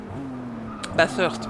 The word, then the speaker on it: Bathurst: Bathurst pour le prononcer comme il faut. Bathurst voilà avec le the Bathurst.